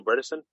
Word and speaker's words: Bredesen: really great guest dale bredesen he said his last rhymes with medicine which i think is